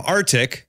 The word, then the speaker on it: Arctiq: thanks Dave and Kyle Bessette he's joining from arctic not the Arctic but Antarctic which is the company which is spelt with a Q so AR c TI